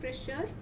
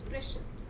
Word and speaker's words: pressure: It's not pressure. It is pressure. You do not pronounce the R at the end.